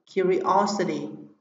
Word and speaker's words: curiosity: Riêng phương án B, C và D trọng âm sẽ rơi vào âm tiết thứ ba: multimedia, curiosity và possibility.